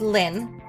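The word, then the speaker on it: ln: of x if you see lin okay we pronounce it as lin but we don't um say we pronounce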